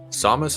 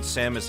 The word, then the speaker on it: Samus: but then again Samus has a lot going on also realize you say it like the melee announcer Samus yeah as opposed to Samus where is uh all